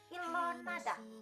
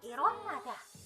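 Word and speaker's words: 일어나: Ini bukan bacanya ilonada, bukan ya, tapi dibaca irona.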